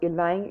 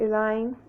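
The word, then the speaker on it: ylang: sweet orange essential oil elaine elaine and that's spelled y-l-a-n-g bergamo which i mentioned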